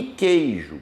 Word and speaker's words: queijo: não o q é um dígrafo porque o u não é pronunciado então em queijo você